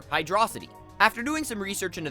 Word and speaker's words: Hydrocity: t y obviously city where the discrepancies show up though is in the pronunciation of that pesky second syllable d r o hydrosity or hydrosity after doing some research